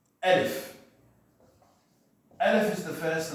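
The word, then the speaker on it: ا: So this is how the letter looks, but this is how it's pronounced. Alif.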